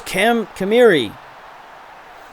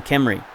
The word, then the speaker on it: Kamiri: There's Kamiri. Kamiri. I just want to call him Kemri, but it's an extra syllable.